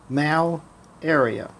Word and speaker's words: malaria: is it say it malaria say it in two syllables mal area now what is it